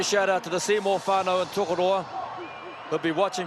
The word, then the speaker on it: whānau: out to the Seymour whānau and Tokoroa who'll be watching from the couch and cheering the teams on. It's a beautiful New Zealand word, whānau, W-H-A-N-A-U, pronounced whānau.